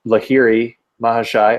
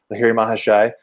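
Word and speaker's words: Lahiri Mahasaya: Babaji meets up with Lahiri Mahashai, I think that's how you say it, Lahiri Mahashai, who's then the guru of Sri Yukteswar, and who's the guru of Yogananda, right?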